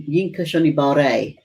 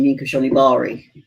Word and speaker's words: Yinka Shonibare: quite a few times and his name is pronounced you yinka shonibare but i'm so used to saying mean kashonibari don't be surprised if i forget mbe was